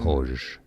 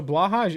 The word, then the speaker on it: Blåhaj: Blåhoj is one of the pronunciations. Blåhoj. Okay, so blahaj is one of the proper pronunciations. There's no W sound in blow.